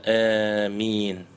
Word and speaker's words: آمين: Третий вид произношения это амин бильмад валь-ималя битахфифиль мим, то есть протягивая а, но с ималей, что-то между а и и, и получается амин, и не удваивая букву мим.